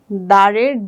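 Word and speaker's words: দ্বার: দারের দ এর নিচে বফলাটি যুক্ত হয়েছে দার।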